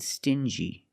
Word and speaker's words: stingy: Example, dingy and stingy. These two words have the regular n sound plus the j like juice together.